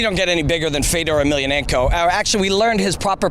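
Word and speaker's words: Fedor Emelianenko: i mean you don't get any bigger than fedor emilianenko actually we learned his proper pronunciation last night from my friend josh it's fedor emilienko so i think we can at least get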